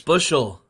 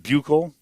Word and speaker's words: Buechel: Bushel. According to our phonetic speller. Shane Bushel. And not Buechel.